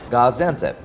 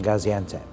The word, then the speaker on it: Gaziantep: the heart of Turkish cuisine, which is, you pronounced it earlier, Gaziantep? Gaziantep.